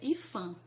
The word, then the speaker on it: IPHAN: Ele é chamado de IPHAN, mas se escreve IPAN, tá, gente? Mas a gente pronuncia IPHAN.